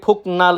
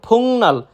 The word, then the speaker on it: 복날: ফুংনাল আমরা যদি কেউ উচ্চারণ করি ফুকনাল, সেটা সম্পূর্ণরূপে ভুল। সঠিক উচ্চারণ ফুংনাল মানে সবচেয়েতে গরম দিন বা সবচেয়ে গরম দিন।